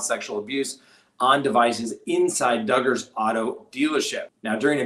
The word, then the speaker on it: Duggar: word we'll give old josh duggar rhymes with hugger the presumption of innocence